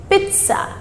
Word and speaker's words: pizza: second word p i z a how to pronounce it it is pizza it's not pizza it's not pizza it is pizza pizza so that sound comes in the middle